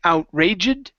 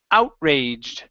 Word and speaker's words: outraged: to this word here this is an ed ending so inad instead of saying outraged this is outraged outraged okay so the colonists